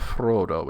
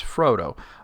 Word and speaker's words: Frodo: applied to like Frodo it's not Frodo it's Frodo because that's westron it's not an Elvish dialect so you know you have to like try your best say okay that's an elvish word it's pronounced this way that's not an elvish word it's not